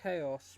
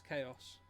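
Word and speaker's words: Xaos: It's pronounced Chaos, but it's X as in like the keyblade. So, it's Chaos.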